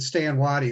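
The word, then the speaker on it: Stand Watie: He has like 3 names, but Stan Waddy is probably the most synonymous that everyone knows about.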